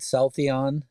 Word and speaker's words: Celltheon: on yeah so did uh um did I pronounce the company's name right so I think I said South Eon uh is that correct exactly that's right all